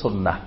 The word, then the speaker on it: সুন্নাহ: আম জনতা সবাই চিনে সুন্নত বললে সবাই চিনে সুন্নাহ বললে আবার অনেকে নাও চিনতে পারে সাধারণ মানুষ তো এজন্য বেশি পরিচিত আমাদের দেশে সুন্নত নামে কিন্তু এটা শুদ্ধ আরবি উচ্চারণ হলো সুন্নাহ সুন্নাহ মানে হলো তরিকা